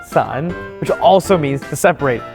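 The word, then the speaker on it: 伞: There's also the umbrella, which is pronounced san, which also means to separate, so you especially don't want to give this to your partner.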